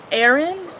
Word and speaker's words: Ahren: Aaron, but it's not spelled Aaron. It's actually Ahren.